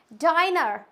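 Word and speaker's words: diner: है उसमें एन है तो इसको पढ़ेंगे हम इट्स डाइनर क्या पढ़ेंगे डाइनर आई को हम क्या पढ़ेंगे लॉन्ग के जैसे पढ़ेंगे क्लियर हो गया फ्रेंड्स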